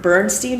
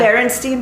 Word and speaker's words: Berenstain: I mean, Berenstein Bears. I have Bernstein. See? I grew up with Bernstein. I grew up with Berenstein. But I think it's spelled Berenstain, right? It's like an A-I-N.